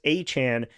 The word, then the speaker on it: Etienne: Travis Etienne Jr., who now wants to be called Travis Achan Jr., saying his name was pronounced incorrectly most of his life.